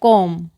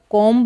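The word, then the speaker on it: comb: द कॉम, यहाँ पर द कॉम्ब नहीं बोलेंगे, ठीक है। बी यहाँ पर साइलेंट है तो इसको हम कॉम पढ़ते हैं, कॉम।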